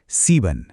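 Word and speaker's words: sieben: Number सात। सीबन। यहां भी वही लंबी ई की आवाज है।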